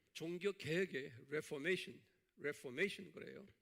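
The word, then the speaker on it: Reformation: 자, 오늘은 이 종교 개혁의 레포메이션 그래요. 레포메이션, 메이션, 여기 액센트 여기 있어요.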